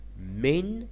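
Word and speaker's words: من: Min is pronounced min and it means from.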